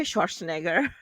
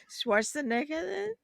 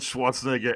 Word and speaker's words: Schwarzenegger: how did you say his name I say Schwarzenegger I'm saying that wrong aren't I I am oh my God okay made me hungry is it Schwarzenegger my name is Arnold Schwarzenegger Ellie you should give proven chance come on